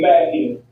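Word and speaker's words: Mackn: and then Mackin. But Mackin is spelled M-A-C-K-N.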